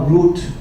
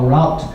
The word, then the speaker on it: route: the world what would your route or route as the americans say be uh if